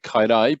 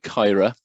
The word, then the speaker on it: Caerau: of you of you who don't know uh kyra uh i suppose if i was in west wales i should be calling it kaidai but um we're in southwestern cardiff um and